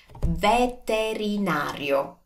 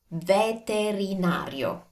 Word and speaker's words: veterinario: Now, I know this is a little bit long, but just slow down and you will be able to pronounce it. Give each letter and especially each vowel the time it deserves.